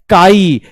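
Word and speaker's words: χ: सुनिए डिफिकल्ट है सुनिए प्रोनाउंसड एज काई काई मतलब सीआई जैसे केमिस्ट्री वाला है ना वैसे ही काई इसको प्रोनाउंस कैसे करते हैं काई की तरह प्रोनाउंस करते हैं इसको प्रोनाउंस कैसे करते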